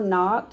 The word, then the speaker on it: knocked: the wolf and remember knocked has a silent k at the beginning k n o c